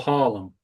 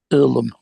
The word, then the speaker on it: Irlam: Earlham or Harlem? Earlham. Spell it. It's kind of Salford. IRLAM. All right, yeah.